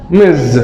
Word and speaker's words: Ms: Ms. Okay. The sound of the letter S is like the Z. Okay. So how do we pronounce it? Ms.